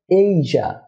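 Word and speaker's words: Asia: যেমন আমরা এটাকে এশিয়া বলে থাকি, এটা এশিয়া না হয়ে হবে এইজা, এইজা। কি আশ্চর্য হচ্ছেন না? এতদিন এশিয়া বলে আসলাম, এখন কি বলছে এইজা হবে। হ্যাঁ, এটাই সত্য, এইজা, এশিয়া নয়, এইজা।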